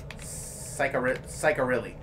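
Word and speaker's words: Ciccarelli: It's Italian, so you gotta pronounce all the vowels. It is, Cy... Cairilli. Cicarilli.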